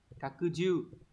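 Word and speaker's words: 拡充: Đọc là kakuju.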